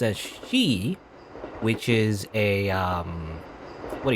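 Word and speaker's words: し: can be pronounced as she, which is a what do you call it? Phone, I think, something like that. Basically it sounds the same as death in Japanese, so that's why 4 is kind of like an unlucky number.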